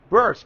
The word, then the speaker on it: Bearce: The manager Skita Bur is pronounced. B E A R C E. Burst.